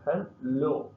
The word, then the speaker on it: hello: The word hello, the stress the second syllable hello.